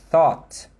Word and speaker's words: thought: Thought.